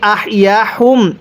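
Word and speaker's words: أحياهم: দেখুন আমি পূর্বেই বলছিলাম এই হাগুলো উচ্চারণ করার সময় গলার মধ্যে আওয়াজ করতে হবে। হুম এরকম একটা আওয়াজ হবে। অনেকেই আহয়া হুম এরকম ভাবে পড়ি। এই হাই হাটাকে যদি হা পড়ি পড়াটা সহি শুদ্ধ হবে না।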